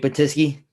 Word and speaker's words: Batyske: Today, we have DJ, entrepreneur, and father, Batyske.